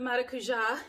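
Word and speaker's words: maracujá: liquidy but of the maracuja and that is how you say it because i have relatives that immigrated to this wonderful country from brazil and um you pronounce it not maracuja it's mara cuja um from tarte and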